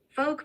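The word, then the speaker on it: phoque: animal seal in French according to Wiki how folk means seal in French F folk you that's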